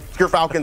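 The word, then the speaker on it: Gyrfalcons: We actually, off screen, we're figuring out how it's pronounced. But Gerfalcons, everyone, so anyone who mispronounces it, that's how you say it.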